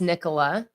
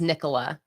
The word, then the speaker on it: Nicola: hard to get right that o is pronounced like an e think Nikolai so do people say like